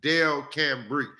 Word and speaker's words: Delcambre: Say it with me. Delcambre. Got to break that thing down in the syllables.